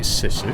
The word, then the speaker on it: Sisu: By the way, the i in sizu is pronounced the same way as in single. What you mean like sisu? It's rubbish. Sounds so bad. You can't call it sissu.